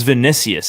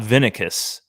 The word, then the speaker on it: Vinicius: was is it vanessa yeah it's vinicius it's not vinicus because there was there's